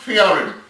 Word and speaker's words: theorem: The TH, you know, when I was small, when they taught us to pronounce TH with the tongue in between the teeth.